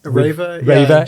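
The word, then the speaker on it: REWE: I know you're in RWE, or I think it's pronounced Raver in Germany.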